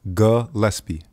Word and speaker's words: Gillespie: just butchered your name is it gpie or gespi Gillespie gespi gesp okay okay all right like